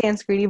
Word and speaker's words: Sanskriti: Did I pronounce that correctly? It's Sanskriti, but yeah, I mean, people usually find it.